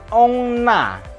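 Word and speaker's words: on a: Kemudian ini ongna. Ongna. Jadi on berbunyi ong, tapi n-nya masih disambung ke a-nya.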